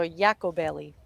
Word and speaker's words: Iacobelli: name she was like it's like Taco Belly but yeah so yako belly and I said to